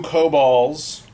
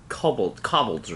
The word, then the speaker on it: kobold: People on the East Coast pronounce it wrong. Kobold? Cobbleds or something. They Oh say my it god, wrong. it's kobolds.